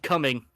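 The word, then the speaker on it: Cumming: violated saying it but it's called coming okay there it is if you live near Georgia exactly how you think it's spelled it's spelled that way if you live near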